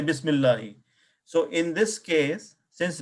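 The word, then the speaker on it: بسم الله: and qata is that Hamzatul wasl is silent when there is a word before it. Right? Bismillahi. So did we use the Hamzatul wasl here or no? No. We did not say Bismi Allahi.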